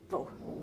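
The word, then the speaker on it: vos: We have no and vo, so we don't pronounce the S unless there's a word that starts with a vowel that comes after it.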